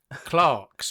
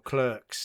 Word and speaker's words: Clerks: Number 9, Clarks or Clerks, depending on how you like to pronounce it.